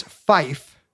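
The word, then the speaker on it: five: It's 2 syllables. 5 is fife.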